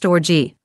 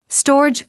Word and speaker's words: storge: that is translated love, the Greek word, storge, pronounced storge. This word is also not used in the New Testament. It is used to refer to familial love. Here's how the website Crosswalk defines storge. Storge, pronounced storge, refers to familial love, a deep